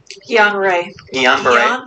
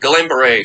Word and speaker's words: Guillain-Barré: increase in certain syndromes like how do you pronounce it again? Guillain-Barré. Just say it really quickly so no one knows. Yeah, it's great. You're mispronounced it. Guillain-Barré.